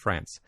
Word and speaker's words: France: by France Gan uh France like her first name lives in France lives in France Paris France um France I'm going to I'm going to pronounce her name in the French way if that's all right